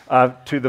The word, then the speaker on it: Toth: It's pronounced Toth.